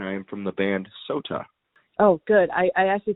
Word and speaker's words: Sotah: I am from the band Sotah. Oh, good. I actually pronounced it right because the last because like